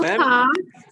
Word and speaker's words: car: Car, R is silent.